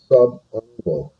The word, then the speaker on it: subungual: Okay, the first one over on the left-hand side, this is pronounced subungual.